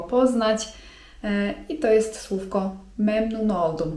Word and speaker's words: memnun oldum: I to jest słówko: memnun oldum (czyt. memnun oldum) memnun oldum (czyt.